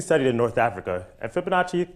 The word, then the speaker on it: Fibonacci: Well, Fibonacci, he actually studied in North Africa, and Fibonacci kind of rhymes with Versace, except because it's a sequence, it actually has a verse.